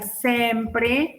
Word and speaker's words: sempre: a ver Por ejemplo si yo coloco la palabra sempre que siempre sería sempr entonces una e final de palabra seguida o no